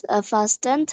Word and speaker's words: fasten: Elizabeth fastened her seatbelt. Past tense টি এর উচ্চারণ করা যাবে না, fasten হবে, fasten.